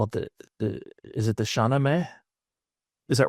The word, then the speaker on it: Shahnameh: Shahnameh.